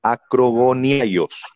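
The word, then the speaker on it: ἀκρογωνιαῖος: La piedra del ángulo en original griego se pronuncia acrogoniaios, perteneciente a la esquina externa.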